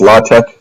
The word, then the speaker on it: LaTeX: So the original typesetting language was TEX, which was tech, and then they expanded it, so now it's LaTeX. It's definitely a bit of a joke, but it's pronounced LaTeX.